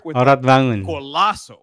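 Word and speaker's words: Oratmangoen: Ya, pengucapannya benar. Ortmangun.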